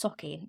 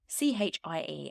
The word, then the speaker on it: Sauchie: I think it's pronounced Sauchie. It's Sauchie. And given everything I know about Scottish pronunciations of place names, I think that's right.